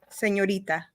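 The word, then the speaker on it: señorita: man yes the female senorita Sorita you gotta roll your read roll your read Sorita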